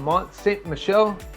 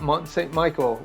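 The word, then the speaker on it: Mont Saint-Michel: in saying next up we have Mont Saint Michelle not Mont Saint Michael which is how I pronounced it for a long time now this will probably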